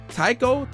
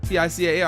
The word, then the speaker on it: Tical: So I'm listening to his debut album, how you pronounce this? Is it Tical? Tical? T-I-C-A-L.